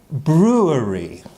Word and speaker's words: brewery: good here okay good and this is a brewery a brewery but when we say it quickly